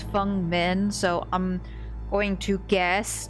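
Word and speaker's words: Feng Min: A lot of people pronounce it Fang, but I think it it the correct pronunciation of that name is Fung Min.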